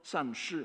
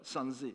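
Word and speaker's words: 三世: C'est précisément ce sens qui est mis en relief dans la locution chinoise désignant les trois temps, san shi en chinois, sanze en japonais, que la prononciation japonaise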